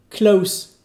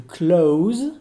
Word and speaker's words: close: expressions du jour donc souvenez-vous klaus tout ça veut dire à côté d'eux et tout clause qui est un peu plus long et qui se prononce plus comme un z eh bien ça veut dire fermer voilà donc pour ce